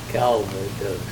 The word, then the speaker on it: Calvados: Calvados.